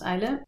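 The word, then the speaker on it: Islay: Je vous parlais de l'île d'Isla, ça s'écrit I-S-L-A-Y, mais ça se prononce Isla.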